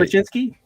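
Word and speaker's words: Sobociński: So Sobocinski, maybe something like that. He's Polish. Yeah, that's right. Sobocinski.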